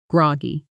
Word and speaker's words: groggy: Slowly first, groggy. Now, naturally, at normal speed, groggy Notice the stress falls on the first syllable, G-R-O, guy, not grow, G-Y.